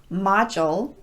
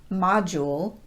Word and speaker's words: module: it's schedule not schedule module not module nodule not nodule fraudulent